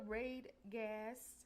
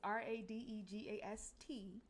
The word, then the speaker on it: Radegast: So I put the Raid Gas, because I keep saying it wrong. It's RADEGAST website up there.